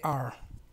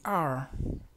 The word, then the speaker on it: are: pronunciamos en español esta se pronuncia eh enrollando un poco la lengua hacia atrás tratando de enrollarla pues y sin sin